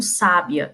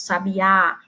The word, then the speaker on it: sabiá: Eu digo que não pronuncio a palavra como sábia, eu boto sabiá, né?